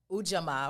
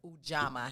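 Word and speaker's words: Ujamaa: Ujama, of course, is one of my favorites, or Ujama, however you want to pronounce it. I like Ujama.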